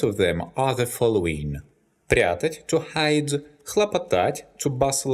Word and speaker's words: прятать: The infinitive прятать is not stressed on the last syllable. That's why, in the present tense, the stress falls on the stem.